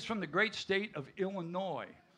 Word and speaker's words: Illinois: He's from the great state of Illinois. The S is silent, we all know that.